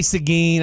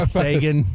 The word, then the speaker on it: Seguin: I say Seguin. I know a lot of people say Sagan. I mean, it's Seguin is literally the name of a high school. Literally how his name's said. So it's how it's spelled.